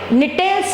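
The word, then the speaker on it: Gnetales: Gingos, again G गंभीर, यहाँ पे निटेल्स है, G is silent पर G का गंभीर एंड G निटेल्स का भी G, एंड फाइनली द्रविड का D, इट इज डाइकोटिलिडन्स।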